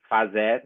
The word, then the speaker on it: fazer: Hacer or hacer, which is pronounced fazer in Ladino.